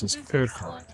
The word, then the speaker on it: Urquhart: we're here atart Castle I was told to pronounce asart it's absolutely stun right